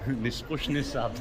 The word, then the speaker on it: Нескучный сад: Nispushny sad.